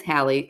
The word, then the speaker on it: Hallie: My name is Hallie, like Halle Berry. Spelled differently, but that's how you pronounce it.